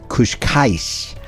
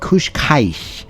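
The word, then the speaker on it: Cascais: a Beach town called kushka and I may not say that one quite right Kush Kai and it's spelled CA c a i s and it consists of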